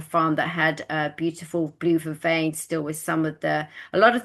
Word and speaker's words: blue vervain: How do you pronounce it? It's blue veve. Blue vervain.